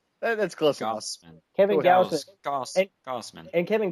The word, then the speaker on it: Gausman: Gausman.